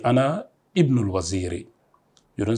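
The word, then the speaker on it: ابنُ: Ibnu man anta. Whose son are you? Whose son are you? Ibnu man anta. It begins with Ibnu. We have to pronounce the alif. Alifun kasra, Ibnu.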